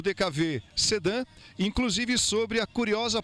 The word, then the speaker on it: DKW: No Brasil, não pronunciamos DKW. O carro ficou conhecido como DKV, pela sonoridade da letra W no país em que a fábrica foi fundada.